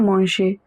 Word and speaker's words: manger: Bien manger. Remember this combination IEN is always pronounced as IAN. AN is pronounced as on. ER at the end of a verb is pronounced as A, always.